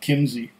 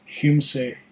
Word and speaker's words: Kymsee: it's something like that it's not Kinsey or chime see it's Hume say or yeah I think